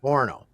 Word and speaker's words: Orono: Because that should be how it's said, because it's Toronto without the T's. Literally, if you take the T's out of Toronto, you've got Orono.